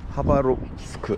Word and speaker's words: 하바롭스크: 하바롭스크, 하바. 여기는 러시아는 P가 R 발음입니다. 그래서 하바롭스크. C가 S 발음. X가 H 발음.